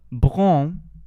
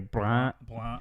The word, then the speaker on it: brun: Brun. Pretty good. Not bad. And then in the Louisiana pronunciation, the brun would be more nasal.